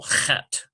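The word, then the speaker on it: חית: So this one here, we would have chet, chet. It's sort of a CH guttural, chet.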